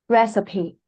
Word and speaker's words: recipe: So for this word um it comes from French. So it is pronounced recipe.